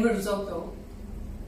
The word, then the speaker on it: risotto: not It's risotto. the E sono sulle doppie che siamo un po' in crisi. I read that the Americans don't have the o, the short o.